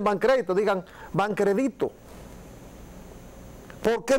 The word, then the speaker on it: Bancrédito: ¿Por qué se escribía Bancrédito? ¿Te acuerdas? Banco Nacional de Crédito, sin acento. Porque está bien. O sea, no tiene que llevar acento, pero no lo pronuncien Bancrédito, digan Bancrédito.